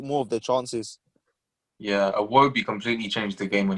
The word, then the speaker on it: Iwobi: no, Iwobi. it's not hard to say. Iobi. No, Wait, no, you that's say fake, the that's what fake, that's fake, sound?